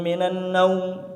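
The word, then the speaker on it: مِنَ النَّوْمِ: Maka yang kita dapati dari anjuran ulama itu ya annaumnya ini tidak dipanjangkan, tidak dipanjangkan. Jadi cukup pendek saja. Asalatu khairum minanum.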